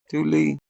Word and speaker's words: Thule: Look right there, Thule. Do you see that? The pronunciation. Thule.